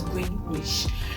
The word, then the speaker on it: Greenwich: So the thing is with the British people, they don't pronounce as spelt. Take for example, Greenwich. That's how it is. So Greenwich. So it's green and then witch. Typical Nigerian, but it's Greenwich.